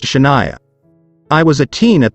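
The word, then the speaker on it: Chahnaiayah: my aunt wanted to name her daughter c-h-a-h-n-a-i-a-y-a-h pronounced Shania I was a teen at the time and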